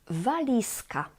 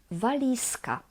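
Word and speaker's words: walizka: T that is afterwards two more valisa valisa here the z z becomes s z is voiced and it becomes its voiceless equivalent s because of voiceless C which follows the Z one more the V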